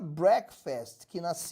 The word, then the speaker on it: breakfast: quebrar o jejum que embora o verbo quebrar se pronuncia Break com o tempo a palavra acabou-se mudando de pronúncia e ficou Breakfast então